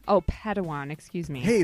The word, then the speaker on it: Padawan: the chill family reunion Master Yoda assigned a pad wine to this bold Jedi it's pronounced Padawan Oh Padawan excuse me hey it's getting late I think